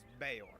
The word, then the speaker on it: Bayor: Am I pronouncing that right? Sji Bayor. It's Bayor actually.